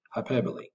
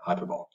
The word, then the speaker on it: hyperbole: the personification and hyperbole that's pronounced high barley hyperbole don't say hyperbole using vivid verbs okay